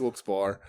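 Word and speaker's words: Wilkes-Barre: no I say Wilson Oh I say walks Wilkes bar um so so yeah so that's when we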